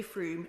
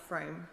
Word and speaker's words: Frome: for The house's information it's definitely FR not FR I don't think my